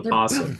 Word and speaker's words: possum: It's not no possum. It's just a possum. It's just a The O is silent.